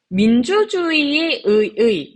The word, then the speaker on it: 민주주의: 자, 민주주의, 요거 지금 보시면 얘네들 다 기본적으로 이렇게 발음되는 게 일단 원칙이죠. 그 다음에 여기 있는 의 같은 경우에는 첫 번째 음절이 아니죠. 그러니까 이로 발음하는 거 허용해요. 그 다음에 여기 있는 의는 조사죠. 그러니까 에로 발음하는 거 허용해요.